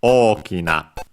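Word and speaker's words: 大きな: And is accented on the first syllable o, on the first o, okina.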